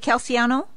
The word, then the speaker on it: Calciano: And did I pronounce the name right? Was it Calciano?